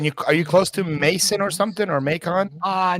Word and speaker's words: Mason: in makon or something Mason or I I pronounce Mason Ohio down near Kings Island the amusement park